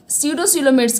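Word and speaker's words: pseudocoelomates: और सीडोसीलोमेट्स क्या होता है, यहाँ पे पी साइलेंट होता है, तो सीडोसीलोमेट्स क्या होते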